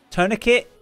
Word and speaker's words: tourniquet: all I talk sorry I'm gonna mispronounce this talk torn niqua Poneke wet tourniquet it's called tourniquet I've never seen it spell torn ik wet but yeah tourniquet